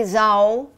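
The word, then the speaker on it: Zhao: up who is Chloe let me pronounce her her last name correctly Chloe Zhou she's Chinese from Beijing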